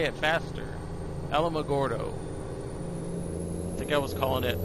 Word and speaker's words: Alamogordo: Alma Alma Gordo Gordo I think it's called Alamogordo or Alamogordo as opposed to Bordeaux I don't know something